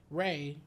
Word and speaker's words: Ra: Egypt they had a guy called sun god ra are you familiar with that I am however um ray which is how is how you pronounce it because like we didn't have um